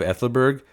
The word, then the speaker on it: Aethelburg: One is the A of Aethelburg, and I've been told that AE symbol is pronounced like A in cat, but then from Charles